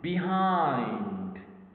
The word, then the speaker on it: behind: of the stressed syllable so if I say behind I stressed the second syllable so we put this